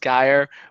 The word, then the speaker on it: Geyer: So it is pronounced Geyer.